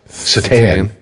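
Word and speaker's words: Šatan: But yeah, I got the pleasure of watching Miroslav's his last name's spelled Satan, but it's pronounced Satan.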